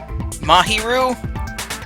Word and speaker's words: Mahiru: Mahiru? God damn, I was saying that name wrong. Mahiru. Even though it's an easy one to say, I've fucking murdered the crap out of it.